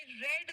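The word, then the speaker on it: read: चलो इसका बताओ आई रेड द न्यूजपेपर मैंने न्यूजपेपर पढ़ लिया मैंने न्यूजपेपर नहीं पढ़ा कैसे लिखेंगे आई डिड रीड स्पेलिंग यही होगा लेकिन पढ़ लिया को आप रेड प्रोनाउंस करेंगे लेकिन जैसे ही ड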